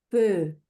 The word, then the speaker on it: peu: De base es el fonema de boca de O, pronuncia una E. ¿Cómo sonaba eso, Marina? Muy bien. ¿Cómo digo fuego? peu, Muy bien.